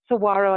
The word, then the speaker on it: Saguaro: the Saguaro and then Saguaro I'm saying it correctly Lance now yes he did landscapes where